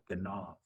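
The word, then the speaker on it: גנב: Ganav. Yep. So you use the dot in Nope, it's just a hard G sound. Ganav.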